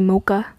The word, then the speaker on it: xMoqax: You don't need to say the X's, by the way. You can just say Mocha.